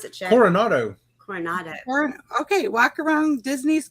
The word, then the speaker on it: Coronado: is that Corona Coronado Coronet corn how you pronounce it Coronado Coronado okay walk around Disney's Coronado Springs first